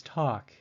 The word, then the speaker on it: talk: The fourth word is talk. It is the vowel A, but its pronunciation is different. It sounds like a short O, or ah.